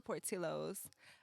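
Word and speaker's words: Portillo's: they serve I suppose yeah I like a Portillos Portillos how you say it you said it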